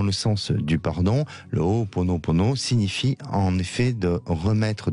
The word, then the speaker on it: Ho'oponopono: Alors Alexandre, aujourd'hui, on va s'intéresser à quelque chose de très particulier que je vous laisserai prononcer deux fois Non, si ça va. vous l'avez très bien dit. Le Ho'oponopono.